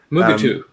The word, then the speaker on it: Mugato: I just mispronounced that again. Well, that'd be cool. Mugato.